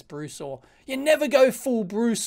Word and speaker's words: Brusaw: or they've gone full brush or you never Bruce or sorry I keep pronouncing that wrong I think it's Bruce or you never go full